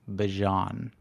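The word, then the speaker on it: Bijan: Uh, he was asked like how to pronounce his name and he said it's Bjon.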